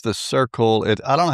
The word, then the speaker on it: Cirkul: It's the Circle. I don't know how you say that. Circle? CIRKUL. Is that how that's spelled?